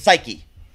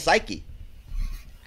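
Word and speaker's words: Saiki: The lead singer, that is a goddamn beast, is Psyche. I always hope I pronounce that correctly. It's spelled S-A-I-K-I, and I cannot think of any other way to say it but Psyche.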